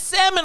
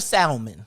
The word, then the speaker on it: salmon: sriracha sriracha is it salmon or salmon salmon do you know what i love when people be like i'd like some salmon when they be extra professional and i'd be like this l is silent don't forget to ask